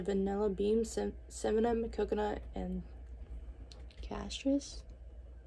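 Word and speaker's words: cassia: beam simum coconut and castris if I'm saying it right it's c a SS I a warming it with my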